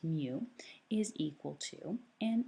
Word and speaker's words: mu: is the letter mu and that's how it's pronounced mu is equal to and it's exactly the same